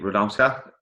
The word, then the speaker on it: Radomska: turned over pro, Radomska. Is that how I pronounce it? That's exactly how you pronounce that.